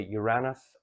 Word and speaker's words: Uranus: Uranus some people say Uranus I say Uranus I put the accent on the year somewhere along the line